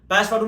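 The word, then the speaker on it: Passepartout: नाम है पस पटू स्पेलिंग के हिसाब से लगता है पैसे पाट आउट पर उसका प्रोनंसिएशन है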